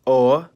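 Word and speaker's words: о: In this part of the world where the languages use the cerillic script, it's commonly called o. It makes the sound o or and it's found in every language that uses the cerillic script.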